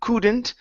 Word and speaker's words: couldn't: um couldn't right here instead of C couldn't okay use the same vowel here instead of instead of uh saying could it's like should it's C could okay could